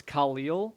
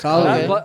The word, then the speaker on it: Khalil: The announcers kept like reiterating his name was Khalil, and they weren't saying Khalil Mack.